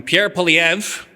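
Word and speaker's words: Pierre Poilievre: Which means if you'd only had teenagers voting in the most recent federal election, Pierre Palev, that's how you pronounce his name, would be prime minister right now.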